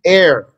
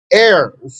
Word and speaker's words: heir: it's going to be a silent h sounds like air called a homophone a homophone or homophone two words sound the same but spelled differently air silent h the inheritors so he